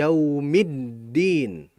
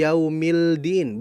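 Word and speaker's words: يَوْمِ الدِّينِ: Berikutnya da huruf dal di alfatihah. Maliki yaumiddin. Bukan maliki yaumildin bukan tapi middin.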